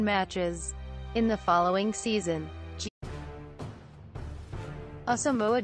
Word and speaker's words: Asamoah: In the following season, Asamoah Gyan, pronounced ə-sah-MOH-ah, ə-sah-MOH-ah, born the 22nd of